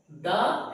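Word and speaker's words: the: আচ্ছা দা এবং বি তাই না দুটো উচ্চারণই হয় কথা হচ্ছে ধরো যখন কোন ধর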